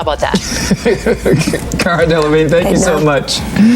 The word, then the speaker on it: Cara: The hosts of Good Day Sacramento did everything they could to make their interview with Cara Delevingne as uncomfortable as possible. First, they mispronounced her name. Much more. Carla Delevingne is in the movie.